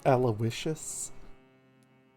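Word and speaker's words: Aloysius: I am aloisius dorson by the way it's pronounced aloicious Mr dorson of dorson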